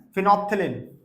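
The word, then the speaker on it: phenolphthalein: अगला आता है फिनोप्थलीन। लेकिन इसके स्पेलिंग थोड़े से अलग से लिखे हुए हैं मैंने। स्पेलिंग ठीक है? एकदम। रीड इसको करते हैं फिनोप्थलीन। ठीक है? लेकिन इसकी स्पेलिंग लिखते हैं फिनोल फिथोलन।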